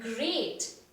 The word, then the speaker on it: great: given by the poet watch out for meat and great and threat they rhyme with sweet straight and dead so children over here